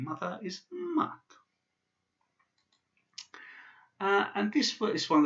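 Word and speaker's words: мать: So this word is pronounced mat. It's not pronounced mat. It's got a soft sign, so it's mat. So mat, the soft T at the end, mat.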